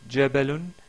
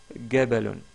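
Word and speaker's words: جبل: là le dialecte égyptien on remplace le le son par le son g donc au lieu de qu' de dire jabalon il disent gabalon gabalon gabalon pour le prénom connu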